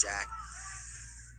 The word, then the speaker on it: Jack: I want to see some shot attempts from Jake, see if that can give him some success. Or Jack, my bad. I've been saying his name wrong the whole time. His name's Jack.